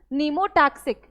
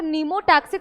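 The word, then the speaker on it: pneumotaxic: नाम मिला ठीक है नीमोटैक्सिक ठीक है पी साइलेंट रहता है पी साइलेंट ता तो नीमोटैक्सिक सेंटर और ये एनटिक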